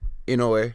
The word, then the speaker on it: Inoue: And his name is Naoya Inoue. How do you say that? Inoue.